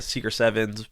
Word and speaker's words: Secret777s: And is the brand Secret Sevens, or how do you say it? Secret? I hate the name, to be honest. All right, well, And we'll so get into I call it Secret Sevens.